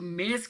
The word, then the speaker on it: mesa: लिखा हुआ है, तो जो एस है वो ज़्यादातर जेड की आवाज़ प्रोनाउंस करता है, ठीक है, पुर्तगीज़ में। इसी तरह आप ऊपर भी देखें, ये जो मेज़ा लिखा हुआ है MESA, तो एस जो है वो जेड की आवाज़ दे रहा है, प्रोनाउंस कर रहा है।